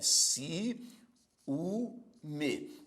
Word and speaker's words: ciúme: com três sílabas ó Observe si u me Observe que neste caso existe também um iato por que iato porque ocorrem duas vogais em sílabas diferentes na primeira sílaba a